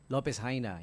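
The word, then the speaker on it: López Jaena: Lopez Haina, yun ang pagkaka-pronounce doon.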